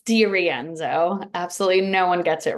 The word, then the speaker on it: DeRienzo: It's DeRienzo.